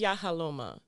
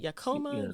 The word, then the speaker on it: Yahala: cool name thank you so the name is yahala okay yeah most people cannot pronounce it I get yakoma yalala I mean I get all kinds of different things and so people started